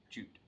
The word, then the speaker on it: jutte: they're not sure and jute is spelled two different ways j-o-t-t-e in j-i-t-t-e and they're both pronounced the same way jute and then some had